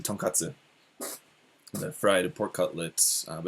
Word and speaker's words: tonkatsu: Yeah, the place we went, it's like a donkas, or like the you guys are, those of you watching are probably more familiar with the Japanese pronunciation, tonkatsu, the fried pork cutlet, but it's a fried pork cutlet buffet.